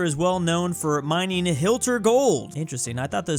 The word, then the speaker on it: Hilter: of Hilter lower Saxony and you heard that right I said Hilter and no I'm not mispronouncing it like I mispronounced a